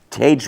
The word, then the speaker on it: Tage: And tonight's guest is Tage Wright, T-A-G-E, so you pronounce that.